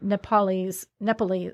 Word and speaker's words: Nepalese: Negotiated to buy a supposed Yeti hand from some Nepalese.